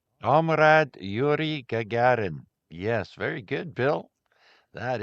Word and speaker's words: Gagarin: Was Yuri Yuri Gregarian, something like that. I don't know if I have the pronunciation right. Yes, Yuri. Yes, I know him well. Omrad Yuri Gagarin.